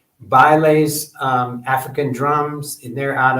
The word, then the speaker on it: Baile: I've got to get in contact with Baile. But anyway, they're out of Maryland. Baile's African Drum Shop. You can look it up online. Baile is spelled like the dance, B-A-I-L-E, Baile.